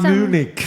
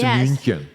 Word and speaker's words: München: It's not Munich. That's Munich? American. München. München? Okay. Okay. Yes, in German it's München.